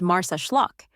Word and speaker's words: Marsaxlokk: Nestled on Malta's southeastern coast, the fishing village of Marsaxlokk, pronounced Marsaxlokk, is where tradition comes to life in Technicolor.